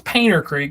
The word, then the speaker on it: Panther Creek: It's spelled Panther Creek, but it's Painter Creek because we call Panthers painters around here.